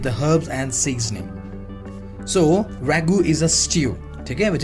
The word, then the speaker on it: ragout: Next we have here is ragout, Ragout, and the pronunciation is ragout.